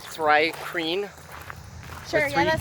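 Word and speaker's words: Thri-kreen: But I made I believe the way we were pronouncing it was, I don't know how to pronounce the first, but it's like Thry-Kreen.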